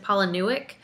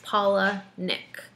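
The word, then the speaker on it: Palahniuk: I This is like where it gets confusing because I always want to pronounce it Paulick. And when you look on his website, it says it's Paula Nick, like the two names combined.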